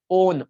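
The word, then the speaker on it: -one: वैसे तो आप लिखोगे तो आप समझोगे वन है, बट इट is pronounced as what, ओन। ओन कैसे प्रोनाउंस करते हैं इसको, ओन प्रोनाउंस करते हैं, वन प्रोनाउंस नहीं करते, क्या प्रोनाउंस करते हैं, ओन, कीटोन।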